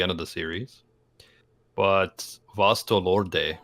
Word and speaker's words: Vasto Lorde: mean, Naruto does have some sick transformations like near the end of the series, but Vasto Lorde, and that's the proper pronunciation, Evan, who lives in freaking Cali.